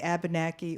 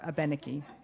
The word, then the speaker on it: Abenaki: and the traditional because you could say abenaki or a benneke so there he has